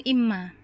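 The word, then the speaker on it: إمّا: Jadi kita membacanya langsung imma.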